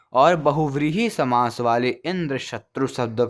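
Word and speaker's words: इन्द्रशत्रु: भेद हो जाता है, अतः षष्ठी तत्पुरुष समास वाले इंद्र शत्रु शब्द का उच्चारण अंत्योदात्त होगा, अर्थात अंतरिम अक्षरत्रु का उच्चारण उदात्त स्वर से होगा, और बहुव्रीहि समास वाले इंद्र शत्रु शब्द का उच्चारण आधोदात्त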